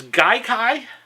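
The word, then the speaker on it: Gaikai: uh cloud gaming service Guai I believe is how it's pronounced uh they said that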